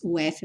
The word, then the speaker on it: of: Lembrando sempre que o of tem o F vai ter um som de V.